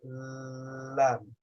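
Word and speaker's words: ل: Those two is where the tongue touches to pronounce the letter lam.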